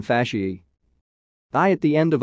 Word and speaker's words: fasciae: A, N, O, E, are pronounced E, as in fasciae.